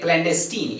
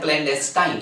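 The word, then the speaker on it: clandestine: अब हम लोग थर्ड ऑप्शन को देखते हैं, क्लैंडेस्टीन या क्लैंडेस्टाइन। ये दोनों तरह का प्रोनाउंसिएशन यहाँ पर हो सकता है इसका, ओके।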